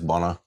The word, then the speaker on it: Bonner: I thought this dude's name was Anthony Boner, but it's Bonner. It's Boner. That's how it's pronounced. One of the N's is silent.